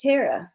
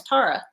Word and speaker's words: Tara: name on the plantation well it's terra the plantation and gone with him no it's tara well some people pronounce it tara some terror it's t t-a-r-a is pronounced tara sometimes but well i mean